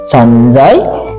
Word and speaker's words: সঞ্জয়: এই ইঙে সংস্কৃতে দন্তান্ন ন আর বর্গীয় জ এর মতো উচ্চারণ আকারে ভেঙে যাবে, সেহেতু উচ্চারণ আসবে স। এই যে স দন্তান্ন সন বর্গীয় জ আর ইয়, সঞ্জয় উবাচ।